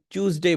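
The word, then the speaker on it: Tuesday: যদি টিউএ উচ্চারণ করতেন টিউএসডে, তাহলে এটাকে চিউএসডে বলবেন, চ দিয়ে বলবেন, চিউ। কারণ চ দিয়েই খালি চিউ উচ্চারণ করা পসিবল হয়, হয় চু নয় চিউ। ঠিক আছে, চু না হোক চিউ, যে কোনো একটা, আর না হলে টু।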